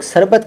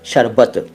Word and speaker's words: शरबत: शरबत आप खूब बोलते हैं और उसको कई लोग सरबत कह देते हैं, सरबत। कोई बात नहीं, कुछ भी कह दीजिए, लेकिन आपको पता होना चाहिए कि इसका सही तरीका बोलने का है शरबत, शरबत, शरबत नहीं, शरबत।